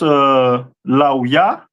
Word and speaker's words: Levi: This is the tribe of Levi, which is pronounced Lauya, which means join to me, and the stone is carbuncle.